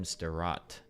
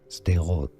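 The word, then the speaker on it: Sderot: At least 25 Palestinian rockets were fired into southern Israel, wounding a woman in Statat. Uh, I need to find out how to pronounce this place.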